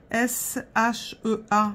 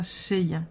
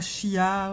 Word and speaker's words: Shea: Et c'est ça, il me dit oui, on prononce ça Shea. Pas Chia ou Chat ou... C'est Shea. C'est comme si on l'écrivait S-H-A-Y. Sauf que là, on l'écrit S-H-E-A.